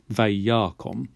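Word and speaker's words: וַיָּקָם: it's an open syllable this vowel here the pathak the short a this really wants to have a closed syllable uh um and there isn't a letter available to make that happen so we pop a strong dagesh in there in order to make it easier to say vayakom this sort of strong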